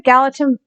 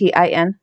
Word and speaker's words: Gallatin: And it led the miners right to Virginia City through the Gallatin, I think is how it's pronounced, Valley.